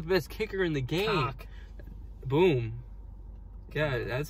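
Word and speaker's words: Koch: Cock. Boom. Yeah, that's how you pronounce it.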